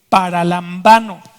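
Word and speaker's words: παραλαμβάνω: Esa palabra recibir en griego se escribe paralambano. Está un poco difícil, pero eso así se pronuncia.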